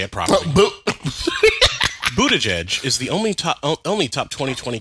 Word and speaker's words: Buttigieg: Buttigieg is the only top 2020 candidate not offering staffers health care yet.